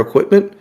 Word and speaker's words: equipment: You put the wrong emphasis on the wrong syllable.